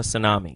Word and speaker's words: tsunami: alert yeah the the they got the tea in front of the tsunami the tea is silent just take it take it off then take it off